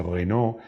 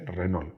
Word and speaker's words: Renault: forma de denominarla que no se dice Renault ni nada de eso se dice Renault es un poco una mezcla entre lo español y lo francés Fiat y Seat 131